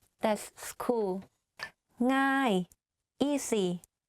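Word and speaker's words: ง่าย: ง ่ า ย easy ง ่ า ย meaning easy like thinking of singing the ng sound you use that sound in front of the word ง ่ า ย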